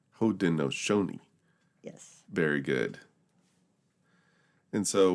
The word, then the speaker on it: Haudenosaunee: Also, I want to make a correction on that pronunciation. Yes, go ahead. It's Haudenosaunee. Haudenosaunee.